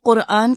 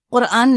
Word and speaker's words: قرآن: یا قرآن کہہ سکتے ہیں، قاف بول سکتے ہیں، قرآن نہیں کہیں گے، قرآن ایسے بولیں گے، یہ بھی تکبر ہے، یہ چیز درست نہیں.